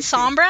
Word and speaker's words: Sombra: do you mean yeah that you rolled your R what do you think I mean Sombra oh no sorry you